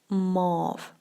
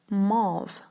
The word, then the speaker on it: mauve: the color mauve move now there's so many ways people pronounce this word wrongly they say mauve they say my youth they say move okay so those are all wrong pronunciations and this is this should be pronounced like mauve mauve and a morph is